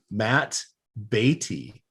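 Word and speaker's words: Matt Beaty: I'm going to utilize the one and only Matt Beatty hat tip to Jimmy Bloomfield for giving me the correct pronunciation there.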